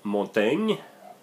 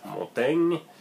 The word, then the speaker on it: Montaigne: Then you have Montaigne, and I pronounce it in French. Montaigne is a country based